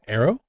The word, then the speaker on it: Erro: So, first of all, arrow like pronounced like bow and arrow.